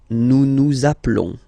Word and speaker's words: nous appelons: Nous appelons. Okay, final s doesn't exist.